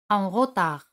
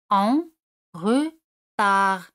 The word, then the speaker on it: en retard: Tarde o con retraso se dice en retard. En retard. D al final no se pronuncia.